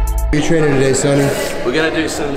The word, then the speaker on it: Sonny: your name wrong too sunny what do I say Sony Sony yeah cuz it spelled with an O instead of like the like the song Sunny that's the one Yer